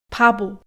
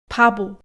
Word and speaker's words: 바보: 바보, 바보, No meio das palavras o som não é aspirado e na verdade chega a ser até vozeado, como um B mesmo.